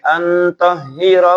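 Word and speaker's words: أن طهرا: Nah, kadang saya dengar suka ada yang bacanya pendek, antahira baik ya, dipanjangin ya, mat tabi'i atau mat asli, karena di situ domirnya kembali Ibrahim dan Ismail alaihi wassalam ya.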